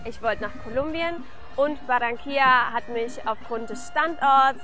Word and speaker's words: Barranquilla: Barranquilla. Barranquilla würde man auf Deutsch wahrscheinlich sagen. In Spanisch sagt man Barranquilla.